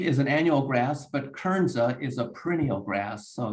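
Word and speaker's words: Kernza: and one of those crops for example is kernzo which is a perennial variety of wheat how do you say it again kernsa k-e-r-n-z-a so wheat is an annual grass but kernsa is a perennial grass so you you plant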